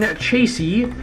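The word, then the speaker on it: chassis: bars to make the machine Chasey the third s is silent I learned that from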